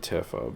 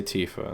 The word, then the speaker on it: Tifa: go to a Tifa I've always pronounced it Tiffa but people it's it's they say Tifa in this game so you know I